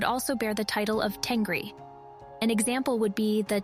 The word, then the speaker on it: Tengri: With them, Tengrism also expanded, because the very first mention of Tengri was handed down from a Chinese source, where the Xiongnu emperors are called Chengli. This is a Chinese mispronunciation of Tengri.